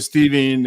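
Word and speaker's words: Stephen: Who is Steven? And why? My name is spelled S-T-E-H-E-N.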